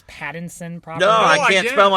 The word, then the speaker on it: Pattinson: Noah, have you not realized that he can't even pronounce Pattinson properly?